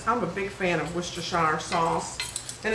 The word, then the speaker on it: Worcestershire: I'm a big fan of Worcestershire sauce. And it's a fun thing to say You know, and it's not spelled anything like you pronounce it.